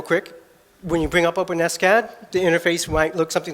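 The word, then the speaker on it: OpenSCAD: do you pronounce it not open scad the maintainers prefer open s-cad so it doesn't sound like an open wound and so I can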